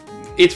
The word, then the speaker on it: AI: know play that and I was such a big Nintendo Land fam but oh well you know what let's also hit uh it's pronounced I the somnium files it's not AI it's I which is kind of